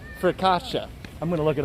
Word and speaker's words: focaccia: you're making me laugh what's it called for kasha bro nobody ever says that it's actually it's even pronounced a little bit different than that people pronounce it different ways but you're talking about focaccia i'm going to look